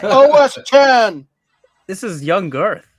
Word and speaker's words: OS X: Maybe you need one of these to learn Mac OS X, as it's proudly pronounced. Oh, retro techie. I pronounced it that way once on Mac. Yeah, I got yelled at. That's hilarious. Who's this? It's OS 10.